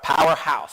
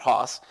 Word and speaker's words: Powerhouse: also we have powerhouse pronounced house oh i've been saying it wrong i'm sorry all right powerhouse so i will make sure that i say that correctly if there's any more teams today but it's powerhouse not hoss and uh owner and